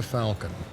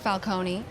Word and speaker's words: Falcon: This is Rebecca Falcon. She's an attorney representing the company. Sounds like a Marvel character. It's pronounced Falcone, and it sounds like it's Italian.